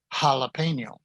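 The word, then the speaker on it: jalapeño: from the word jalapeno jalapeno a strong h sound now before a o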